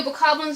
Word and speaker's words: Bokoblin: There are a few bokoblins over there. And yes, the pronunciation is bokoblins, not bokoblins.